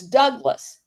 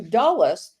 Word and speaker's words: Douglas: that his surname was Douglas not douas once the Dutch Indies was pronounced um once in the Dutch Indies the pronunciation changed to dullas because of the guttural G in the Dutch language Joseph's personal hisory history